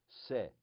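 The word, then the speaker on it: שה: then shin and hey, but the dot is on the left. So instead of she, what do we call it? How do we pronounce it? Se.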